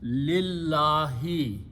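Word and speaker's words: لله: you read them together you do not pronounce the alif so it becomes lillahi now what we do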